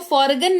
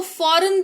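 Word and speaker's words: foreign: जैसे इसको फॉरगन नहीं, इसको फॉरेन पढ़ते हैं।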